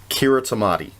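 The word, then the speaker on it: Kiritimati: The one basically pronounced it exactly the way it looks, Kiritamati. So there was that. But then a couple of other sources said that the T-I is pronounced like an S.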